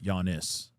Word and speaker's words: Giannis: So, all I'm going to say is Giannis. Giannis. Okay. Giannis. Giannis. Thank you. The G is silent. Gotcha. Okay. Like yawning, but yianis.